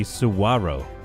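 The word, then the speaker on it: saguaro: Closest way to pronounce it would be Suwaro. Really? Suwaro? Yeah, that is not spelled the way it's pronounced.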